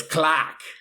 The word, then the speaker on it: Clark: Clockwork Soul sorcerer named Clark that's how he pronounces his name his name's Clark but he has a real bad fantasy Bostonian accent I made so it's clack I made a Cobalt